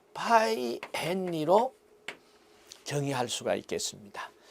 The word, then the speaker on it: 헨리: 그리고 인덕턴스는 약으로 L로 표시를 하고 단위는 H로 쓰고 헨리라고 읽습니다. 헨리.